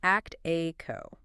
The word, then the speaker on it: actiqo: It's act a co. Yes, actiqo.